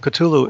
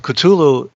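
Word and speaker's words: Cthulhu: means and we have culu the way I pronounce it anyway Kulu in the Lovecraft stories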